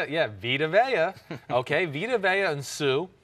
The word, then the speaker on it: Vita Vea: Vita Vea, I always say his name wrong. Vita Vea. Vita Vea, I always say it. Yeah, Vita Vea.